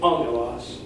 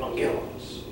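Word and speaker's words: ἄγγελος: So when you learn this word, learn it angelos, don't learn it angelos.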